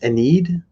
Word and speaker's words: Ennead: What it's Ennead? I mean, I Ennead.